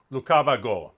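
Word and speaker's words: лукаваго: syllable in the song are you saying it's it's pronounced as a g rather than an h lucavigo yes yes so it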